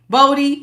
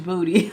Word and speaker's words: Bodie: I called you Booty. I didn't see it to the playback that Charlie was trying to say. No, honey. Booty. Uh, Bodie. Bodie. I'm so sorry. I mispronounced your name. And I don't know what made me say Booty, honey. I there was not a double O there. It was just one.